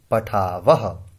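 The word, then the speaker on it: पठावः: मानो यहां विसर्ग नहीं होती तो हम इसे बोलते पठाव, लेकिन यहां विसर्ग है तो हम इसे उच्चारण इस तरह से करेंगे पठावह।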